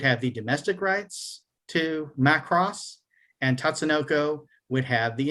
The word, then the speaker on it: Macross: who may be watching this later is it's pronounced macross it's not is in bernie mac imac uh big mac it's not my cross so you forgot return of the mac all